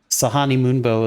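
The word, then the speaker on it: Sehanine Moonbow: And uh Sahani Mumbbo is uh I think hunt like creature related like uh the the goddess of hunts and and uh and natural order.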